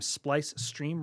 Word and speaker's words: Splice Stream: You all can always find me on YouTube and Kick under the name Splice Stream, Rhymes with Ice Cream, where I've been streaming a lot of amiibo antics.